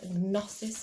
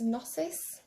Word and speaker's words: Gnosis: But before we get to, what is this, Gnosis? Gnosis? I don't think we pronounced the G on that one.